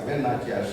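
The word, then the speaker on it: Velu Nachiyar: Veeramangai Velinachiyar. And some of these Tamil pronunciations are very difficult. If I am wrong, please correct me, Mr. Partha. Yeah. Veeramangai Velinachiyar, right? Yes. Yeah, Velinachiyar.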